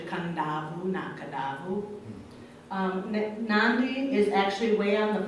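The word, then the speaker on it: Nadi: it's felt na VI but it's pronounced with an N and they do a lot of that with their because kedah who is actually coming down ooh na kadavu Nandi is actually way on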